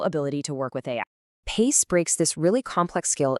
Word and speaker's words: PAICE: It's pronounced PACE. Super simple, like keeping pace with change, which is exactly what this is all about.